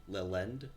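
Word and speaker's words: Lillend: There's a rope right next to your Lithen. Lithen? Yeah. Sorry, cannot pronounce. How do you pronounce it again? Mune? Lithen? Lilend? Lithen? Yeah, like Lil Lend.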